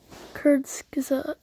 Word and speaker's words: Kurzgesagt: Kurzgesagt. Okay, that's how you pronounce it.